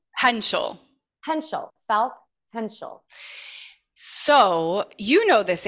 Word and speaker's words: Hentschel: Hentschel.